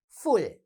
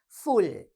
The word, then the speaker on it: full: Full. Right? How do you say the word? Say it after me. Full.